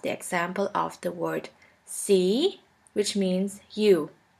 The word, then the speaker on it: sie: The next letter combination is IE, which is simply pronounced like E. For this letter combination, we have the example of the word see, which means you.